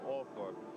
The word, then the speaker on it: Althorp: And here in this village, they do pronounce it Althorpe.